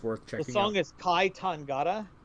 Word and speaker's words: Kai Tangata: trying the song is kai tangata how do you spell that k-a-i one word second word tangata t-a-n-g-a-t-a tangata okay i got